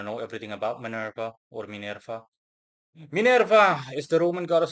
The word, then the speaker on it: Minerva: Hello again people mo again as always and as usual I'll be treating the Roman goddess Manurva or better said Minerva whom I shall be referring to pronunciation wise henceforth.